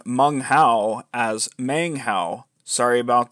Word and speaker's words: Meng Hao: the fact but yes it should be mung Hao not mang Hao sorry about that okay